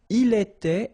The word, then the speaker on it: il était: Il était, elle était, final T not pronounced.